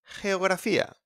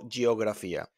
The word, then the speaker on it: geografía: We got as well gente, gente, people, and geografía, geografía. Common mistake, don't pronounce like G in here. Don't say gente or geografía.